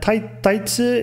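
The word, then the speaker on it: タイツ: Her name is Taisa, and Taisa is actually the Japanese pronunciation. It's a loan word again of the English word tights, as you can see here on the screen.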